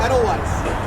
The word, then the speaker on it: Edelweiss: I can never pronounce it. Edelweiss. Edelweiss? Yeah, Edelweiss wheels.